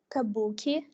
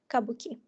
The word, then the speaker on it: kabuki: variant it pronounced as kabuki and in the second one is pronounced kabuki in the first variant we can observe the consolidation of the main stress on the second syllable and the reduction of